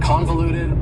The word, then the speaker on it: convoluted: for you is convoluted convoluted also has four syllables and the stress is on the first syllable convoluted that second syllable again has that schah sound that reduced vowel sound uh convoluted convoluted if something is convoluted